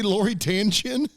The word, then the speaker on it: Lori Tan Chin: And Did you say Lori Tanchin?